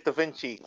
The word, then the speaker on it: Da Vinci: let you know this it's not pronounced d Vinci it's D Vinci so how is the correct way to say your name it is Da Vinci he was correct shout